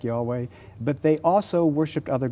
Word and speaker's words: Yahweh: god uh who is has the name Yahweh pronounced something like Yahweh but they also worshiped